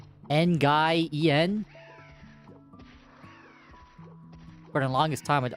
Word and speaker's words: Nguyen: Nguyen? For the longest time, I'd always say Nguyen. Or Gian or something? I don't know. English is weird. Someone actually corrected me. Like, no, just pronounce as a win.